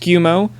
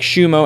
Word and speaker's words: Tsukumo: facts about his name it's officially pronounced tsukumo unlike xu mo as he goes by and it's tsukumo